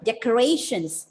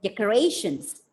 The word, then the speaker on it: decorations: See, look at the words like decorations. Apply the word stress. The words ending with T-I-O-N, the stress should be given on the penultimate syllable, and the pronunciation of the word will be decorations.